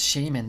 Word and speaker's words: Shaymin: a nice lady you skipped five good cards shaymin that's how you pronounce it and i thought you couldn't get